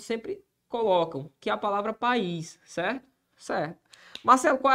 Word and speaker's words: país: agora Se alguém perguntar qual que é a posição da sílaba tônica de país eu diria o quê oxítona a posição aqui é de oxítona ó a posição é oxítona porque o que é um oxítona é a palavra definição gramatical é a palavra cuja sílaba tônica recai sobre a última sílaba então país é uma oxítona do ponto de vista